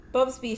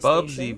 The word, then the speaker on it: Bubsy: Next, we have Bubsby 3D, aka Bubsby 3D Forbidden Planet, on the PlayStation. Bubsy, bro, not Bubsby.